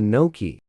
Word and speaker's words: gnocchi: very good and for you i'll have the notch please ah the gnocchi excellent choice i can't bring you anywhere hey